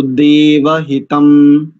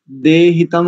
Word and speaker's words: देवहितं: ना हो गड़बड़ तो देव हितम देव हितम ठीक है ठीक है आपके उच्चारण में दो त्रुटिया थी दे हितम आप बोल रहे थे एक तो इसको देव हितम करेंगे दूसरा शरद नहीं करेंगे